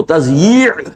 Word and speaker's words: تضییع: میں لکھا ہوتا ہے تو لوگ تثنیہ پڑھتے ہیں اسے، تثنیہ اوقات، یہ جو کہتے ہیں وقت کو ضائع کرنا، وہ تثنیہ پڑھ دیتے ہیں اس کو، وہ تضییع ہے۔ اب اس کا تلفظ